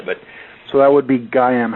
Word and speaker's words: Gaiam: But so that would be Gayam. How would you spell that?